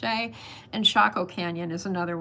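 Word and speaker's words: Chelly: It looks like Canyon Dashelli is how it's spelled, but it's pronounced Sheay.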